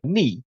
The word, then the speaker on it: knee: In the first camp, I would put a word like knee, right? So the silent K, or the W in right.